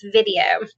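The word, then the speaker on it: Vidyo: hipaa compliant web-based platform called video it's spelled v-i-d-y-o video all visit charting by the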